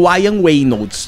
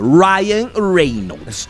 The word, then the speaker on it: Ryan Reynolds: teve um um tem algumas pessoas que falam wian Reynolds tá que eu já vi galera a gente vai falar do método bway tá então Fique atento Ryan Reynolds Ok mas deixa os Car pronunciarem do jeito